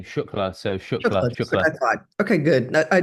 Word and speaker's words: Shukla: pack but and then the last name shla so sh okay good I just good because